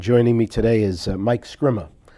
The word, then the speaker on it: Scrima: My name is Ron Vecchia, and joining me today is Mike Scrima. That's correct pronunciation? I hope, Or Mike? Scrima, if you want to be Italian Scrima? about it. Yeah. Scrima. Yep.